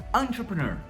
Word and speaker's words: entrepreneur: Entrepreneur. Então, olha só essa palavrinha, a gente pronuncia assim, ó. Primeiro é com som de A mesmo.